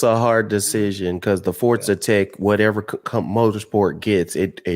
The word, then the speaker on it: Forza: I don't get where that T comes in. That's what I'm saying. There's no T. They tweeted out that they put a little phonetic pronunciation on how to say it, and it says Forza.